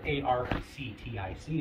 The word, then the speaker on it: RTIC: So, of course, it's not spelled A-R-C-T-I-C. It's spelled R-T-I-C, Arctic.